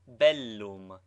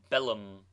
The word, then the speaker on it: bellum: Doubled consonants should both be sounded contrary to the custom of English. Thus, bellum is pronounced distinctly. Belum, not bellum.